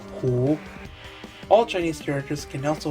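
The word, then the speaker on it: 湖: Without prior knowledge, you wouldn't know that it's pronounced Hu.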